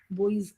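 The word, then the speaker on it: buoys: tsunami बॉयज बोलते हैं बी यू वाई ओ एस ऐसे करके आता है बॉयज बॉयज ऐसा प्रोनाउंसिएशन चलता है उसका कि भारत ने ऐसे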